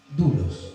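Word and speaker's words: doulos: esos esve dlos pero se pronuncia dulos la fonética es dulos y la palabra siervo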